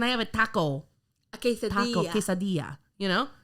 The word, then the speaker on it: quesadilla: quesadilla. Is it? Quesadilla. But This is how you pronounce it.